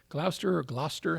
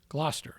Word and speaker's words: Gloucester: Glower or Glouester. How do you say it? Gloucester.